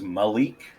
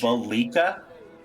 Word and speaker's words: Valika: Did you think it was Malik? yes, Okay, so it's Valika.